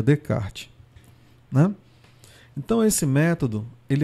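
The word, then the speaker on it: Descartes: Oi Gi de kart se escreve 10 os karts é mas a pronúncia seria de kart né então esse método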